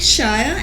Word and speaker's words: Schayer: back to my extreme right we have Shire did I say your last name right yes I almost mispronounced it again but welcome back it's